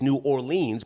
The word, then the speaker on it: New Orleans: The correct pronunciation is New Orleans. But don't they say New Orleans? You sure you're from there? New Orleans.